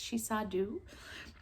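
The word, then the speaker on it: Sidhe-seer: The Shisadu, which I always want to pronounce as dove, but she says very plainly in her books that it's Shisadu, is constantly telling Mac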